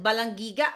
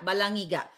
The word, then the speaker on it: Balangiga: yung sa ano yun balangiga How do you pronounce it balangiga balangiga balangiga Bell Okay isinuli sa atin y after